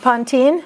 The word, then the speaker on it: pontine: I want to put the N in there. You can put the N in there, or pontine? Like a Pontine? pontine. Pontine is the correct way.